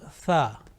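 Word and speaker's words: ث: fourth letter of alphabet to pronounce this letter correctly it is important that we touch the tip of our tongue softly to the edges of our top two teeth front two teeth like you see the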